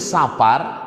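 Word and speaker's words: صفر: Yang betul pengucapannya kan Muharram, bukan Muharram. Safar, bukan Safar. Karena ditulis Safar, dibaca orang Safar. Padahal penyebutannya Safar.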